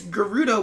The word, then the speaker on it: Gerudo: Apparently, it's Gerudo with a hard G, not a soft G.